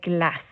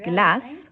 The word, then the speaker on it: glace: Comme le E ne se prononce pas dans le mot glace, on ne dit pas glace.